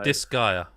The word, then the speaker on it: Disgaea: But go on, because I've already forgot how you pronounce it. So Disgaea.